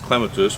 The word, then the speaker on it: clematis: so a couple other things with uh the clematis actually it's gonna be technical it's pronounced clematis but um on all the raymond evanson varieties